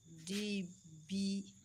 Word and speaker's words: debt: Please take note because of the pronunciation. It is DEBT, debt.